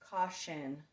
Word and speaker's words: caution: Caution. We're not to that word yet. But caution is spelled C-A-U-T-I-O-N. So T-I also says sh.